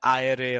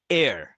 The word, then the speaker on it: Eyre: এই যে Zain এয়ার এটাকে অনেকে বলে জেইন আয়ারে অথবা Zain আয়ার but actual pronunciation is Zain এয়ার Zain এয়ার তো জেইন এয়ারের স্টোরিটার